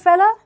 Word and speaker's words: fellow: спрашивает Is this your fella? Обратите внимание, в разговорной речи fellow может произноситься как fella.